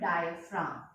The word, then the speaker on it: diaphragm: External intercostal muscles and diaphragm. Over here G is silent. Diaphragm.